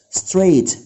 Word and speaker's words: straight: short hair شعر قصير، straight، straight hair، straight hair شعر مستقيم، عكسها طبعا curly، curly عكسها straight، straight IGH حروف صامتة silent letters، straight hair يعني شعر مستقيم.